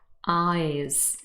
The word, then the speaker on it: eyes: look at those words for example eyes here we have the